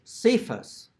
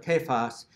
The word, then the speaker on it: Cephas: church, if you say Cephas instead of Kephas, the ground will open up under you and you will be swallowed up. It really needs to be pronounced correctly with a hard C, even if, and I